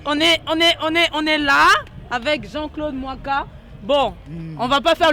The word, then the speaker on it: Muaka: Non, pas du tout, c'est mon nom congolais, ça se prononce Mwaka comme Mwaka.